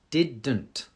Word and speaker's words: didn't: Didn't. So it's little like did not, but didn't. to get the N sound.